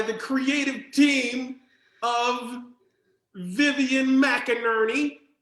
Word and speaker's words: McInerney: creative team of vivian mcinerney her last name rhymes with burton ernie and ken la moog